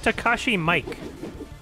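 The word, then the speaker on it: Takashi Miike: let's go no is it it's pronounced it's pronounced takashi mike yeah oh jeez up well your arms are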